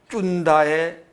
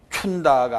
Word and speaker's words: 쭌다: 넘어가서 36페이지 쭌다의 한자로는 순타라고 그러고 우리말로 읽으면 쭌다, 쭌다. 우리는 흔히 뭐라고 읽었어요 지금까지? 춘다라고 그랬지. 춘다가 아니고 쭌다.